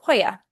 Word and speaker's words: joya: It would be represented typically by the letter J, or a jota, and it would be in a word like joya.